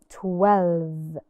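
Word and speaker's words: twelve: let's see together 12 of course the e in the end is silent it's a magic e it's 12 there are 12 apples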